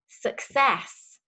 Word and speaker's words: success: is particularly tricky because the two c's in the middle they're making a different sound for each one s so we have a hard c sound and a soft c sound success success so that